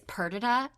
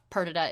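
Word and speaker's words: Perdita: And it's Pertida.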